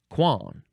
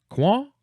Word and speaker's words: coin: It looks like, in American English, it looks like fleur de coin, but it is not pronounced that way. 3 words, F-L-E-U-R. Second word, D-E. Third word, C-O-I-N. Pronounced quan. Quan? Quan.